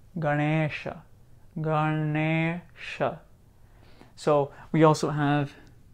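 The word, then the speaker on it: गणेश: don't know I know so for example we know we've heard of this darnisha Ganesha it's not Ganesh it's Ganesha Ganesha so we also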